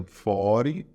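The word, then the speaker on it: forty: O 40 seria 40. Também como se esse T fosse mudo.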